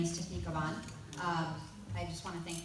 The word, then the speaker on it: Cabán: Am I pronouncing Cabán? Yes. Sorry about that. No, thank you. Hello everyone, my name is Tiffany Cabán.